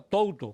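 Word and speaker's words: τοῦτο: tiene un el sujeto que se pronuncia tto que quiere decir esto en arameo se pronuncia da y en hebreo se pronuncia ze y significa esto pero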